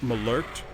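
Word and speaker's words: malört: free stop on by rightly it should be pronounced more like malarked it's a Swedish style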